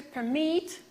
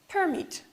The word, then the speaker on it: permit: To permit, permit, verb and noun. With the red color, I highlighted that part of the word which should be stressed.